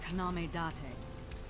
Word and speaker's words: Kaname Date: You're Special Agent Kaname Date. Okay, nice. Now I know how to pronounce his name, at least.